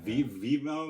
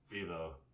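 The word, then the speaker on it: Vevo: yeah i think it's on youtube yeah yeah v-v-mo yeah what's that i mean that's the youtube one that's right yeah yeah i said it wrong yeah vivo yeah yeah cause like i don't know i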